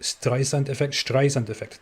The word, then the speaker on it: Streisand effect: Streisand effect.